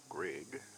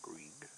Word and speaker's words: Greig: That's why I got his name wrong last year. Greg, not Greek.